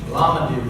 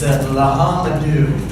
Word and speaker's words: L'Homme Dieu: Lamadou, Lamadou, Lamadou. Stagehand pops in and says, it's actually, we do pronounce the H. It's Lahamadou. Worse than I thought.